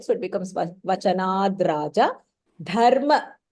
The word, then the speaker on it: धर्म: Dharma That dha is Mahapranah.